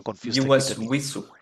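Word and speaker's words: وضوء: উইসু, উই উই উই, নট ভি। উইসু, নট ভি, ভিসু না, ওকে, উইসু।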